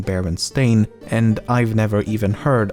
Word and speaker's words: Berenstain: However, many remember the name as Baronstein and not Baron Stain.